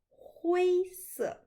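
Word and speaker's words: 灰色: Il faut faire attention à la prononciation de la couleur noire et la couleur grise. Écoutez bien, noir, c'est 黑色, 黑色. Et gris, 灰色, 灰色.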